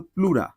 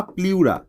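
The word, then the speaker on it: pleura: সে আবরণের নাম কিন্তু প্লুরা বা প্লিউরা যাহাই প্লুরা তাহাই প্লিউরা ইংরেজি বানান দুইটারই এক্স উচ্চারণগত পার্থক্য প্লিউরা এই প্লিউরা কিন্তু আল্টিমেটলি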